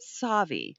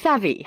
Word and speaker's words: Savvy: And now, am I saying that correctly? Is it Savi? It's pronounced Savvy.